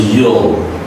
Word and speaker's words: you'll: No, it's a you'll. You. All. The dark L is denounced as a dark L. So you pronounce it like all sound.